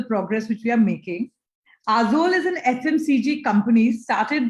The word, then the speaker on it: Aazol: And here it's all about reliving the love and affection showered to you by your IG through the food of Azol.